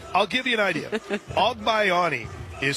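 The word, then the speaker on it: Agbayani: The BYU lineup really challenges the pronunciation guy. Elena Ogbayani will lead things off.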